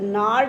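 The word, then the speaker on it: gnarled: bones, reciting a father's gnarl disease. G is silent. Gnarl disease of arthritis.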